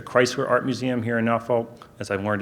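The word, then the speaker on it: Norfolk: this week the Chrysler Art Museum here in now vault as I've learned it's pronounced these exceptional they've just got an incredible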